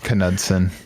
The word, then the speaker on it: Knudsen: Is it really Knudsen? Knudsen. Yeah, but so it's not like the K and knee. Yep. No, everybody... In all the interviews, everybody pronounced the K.